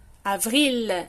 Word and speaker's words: avril: Avril, Michel, un fil, the L also. Finir, professeur, trottoir, the R also is always pronounced.